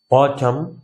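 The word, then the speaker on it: autumn: কলম, অটম, হিম, এটার উচ্চারণ কিন্তু হিম, এনটা কিন্তু সাইলেন্ট।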